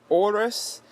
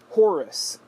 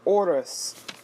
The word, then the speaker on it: Horus: with them pronouncing it Horus. The man's name is Oris.